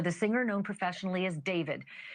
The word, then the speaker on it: D4vd: Literally, for the singer known professionally as David, spelled D4 VD. I know it's strange, but it's pronounced date.